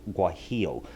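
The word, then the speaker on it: guajillo: that's g u a j i l l guo is the way it's pronounced the guo chili It's a red guy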